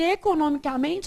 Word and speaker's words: economicamente: Porque economicamente a sílaba tônica é essa.